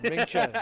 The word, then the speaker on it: Ming Chen: I am here at Galacticon with Ming Chen, if I pronounced either side right. You nailed it, my friend. Ming Chen.